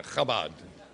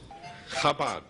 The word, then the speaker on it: Chabad: Chabad. Did I get the cha right? The Chabad Telethon. Say cha. Cha. Cha, there you go.